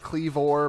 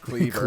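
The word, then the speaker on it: Kleavor: do pronounce it Cleavor, but I looked it up and it is technically just pronounced Cleaver.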